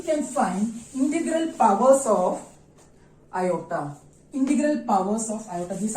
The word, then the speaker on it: iota: That is iota, I-O-T-A. Iota is the square root of minus 1, and this iota is written as I, but the pronunciation is iota.